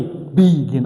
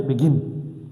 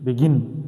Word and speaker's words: begin: Where is the stress? The stress is on gin. I don't say begin, I say begin. Begin.